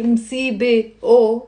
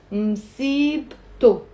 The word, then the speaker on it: msibto: The T, which is silent at the end of msibe, we end up pronouncing it. And it becomes msibto, msibto, two syllables, okay?